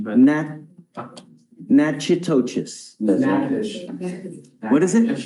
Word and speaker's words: Natchitoches: I butchered the pronunciation, but. Natchitoches. What is it? Natchitoches.